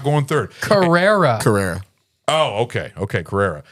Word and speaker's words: Carrera: Carrera. It's a How do you say it? it's a model of a car. Yeah. Oh, Sierra?